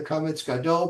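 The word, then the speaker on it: kamatz gadol: The usual symbol is used for the comments gadol, pronounced as in father.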